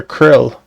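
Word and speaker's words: Krile: I'm going just call her Krill. The E is silent.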